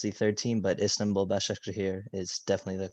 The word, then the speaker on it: Başakşehir: I know for a fact the last group I definitely mispronounced the third team, but Istanbul Başakşehir is definitely the correct All right, ladies pronunciation.